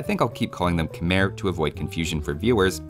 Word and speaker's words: Khmer: the Khmer's own spelling, without realizing the final R that they wrote was meant to be silent. The mistake has since just caught on, and while I think I'll keep calling them Khmer to avoid confusion for